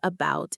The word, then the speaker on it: about: The stress in the word about is on the second part, about. Right. Bout is the strong part. That means the first part, the A, is weak. It's unstressed. So what happens to it? It becomes a schwa. It's not a bout, it's about.